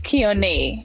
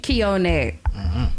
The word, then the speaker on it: Keone: Hello, is Keone or Keone? I want to make sure I'm pronouncing it correctly. It's Keone. Keone.